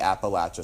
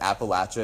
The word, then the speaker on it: Appalachia: Appalachian service project so you might think I've misspoke but Apple a is actually how they say it down there and so I grew up learning it's Appalachia Appalachian Mountains it's at the lacha Appalachian mountain so if you ever go